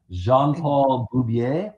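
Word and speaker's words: Jean-Paul Beaubier: superhero, which is uh Jean Paul Bubier, I believe is the correct pronunciation of the character's name.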